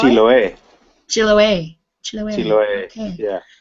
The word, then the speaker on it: Chiloé: And how do you pronounce that? Chiloé? Chiloé.